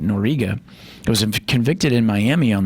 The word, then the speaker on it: Noriega: It was Manuel Noriega, that's how you say it, Noriega, was convicted in Miami